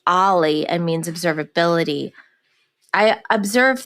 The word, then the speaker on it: o11y: Y and not everybody knows that that is pronounced Ali and means observability I observe that also open